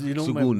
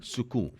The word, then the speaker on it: Sukoon: It's like, My in-laws' house is called Sukoon in Hyderabad, and the N is not even pronounced. Now Yeah, you tell me. yeah. I've been making a fool of myself because, Sukoon, my mother-in-law speaks Chase Urdu.